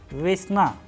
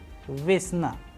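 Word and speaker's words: весна: Here the sound of letter ve is coming precisely as in the letter ve in English approximation word wet. Accordingly, we have also used a Russian word vesna, vesna, which means spring season.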